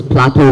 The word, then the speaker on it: plateau: is the word Plateau it's pronounces Plateau with the o sound so this is probably considered as a tricky word we look at it and we go how do I pronounce this word we have e a and u together but it's very simple if you know that this pattern has uh the o sound it's French origin always spelled as e-a-u